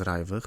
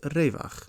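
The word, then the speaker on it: רווח: So if you were to see the word raivach, for example, in a Hebrew language text, you wouldn't pronounce it as raivach, but as revach.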